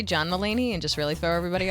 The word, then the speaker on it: Mulaney: Can I say John Mulaney and just really throw everybody off? Which one? John Mulaney. John Mulaney, the comedian? Yeah, only John because Mulaney said it that. rhymes with John Delaney.